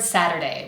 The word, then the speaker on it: Saturday: We have a really quick little tap of the tongue against the pallet to represent the T sound. Sadder, sadder. If you decide to pronounce a tapped T instead of a true T here, which is what we would do in the American accent, just make sure that it is totally audible.